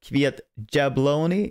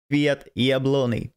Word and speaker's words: Kwiat Jabłoni: And Kwiat Jabłoni, I heard you should say it like a Y and not like a J, so not Kwiat Jabłoni, it's Kwiat Jabłoni.